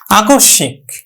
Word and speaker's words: আকস্মিক: হবে আক দন্তস উচ্চারণ করি না আমরা তালব্য উচ্চারণ করি তাহলে কি হলো আকশ আকশিক আকস্ক আকস্মিক আকস্মিক তার মানে নাসিক ও ধ্বনির উপর কিন্তু